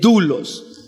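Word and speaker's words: δοῦλος: para siervo es la palabra griega doulos se lee tú los se escribe doulos y hay un libro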